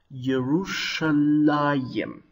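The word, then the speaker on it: ירושלים: Hebrew Bible it is printed like this and pronounced yerushalayim do you notice that the hirak you should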